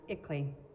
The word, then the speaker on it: ICLEI: That acronym is pronounced ICLEI.